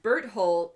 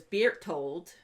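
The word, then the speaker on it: Bertolt: ji zoe and then burt holt is beer told which that's a very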